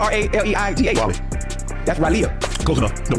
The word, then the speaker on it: Raleigh: But it's spelled R-A-L-E-I-G-H. Raleigh.